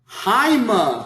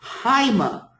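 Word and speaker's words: αἷμα: And it has a rough breathing in front of it. So how should we pronounce this word? Haima.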